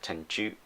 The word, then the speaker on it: Tenchu: came out um we called it tenchu uh tenshu tenshu it's actually pronounced tenchu and it means heaven's wrath i guess um